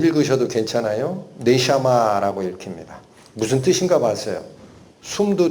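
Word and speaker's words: נשמה: 네샤마라고 읽힙니다.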